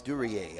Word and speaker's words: Duryea: Lucas Duria, or Durier, pronounced like the actor Dan Duryea, who played in movies many, many years ago. Lucas Duryea out of the Santa Clarita Warrior team made the play.